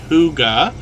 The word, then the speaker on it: hygge: how we pronounce this h-y-g-g-e is pronounced hyuga hyuga means cozy peaceful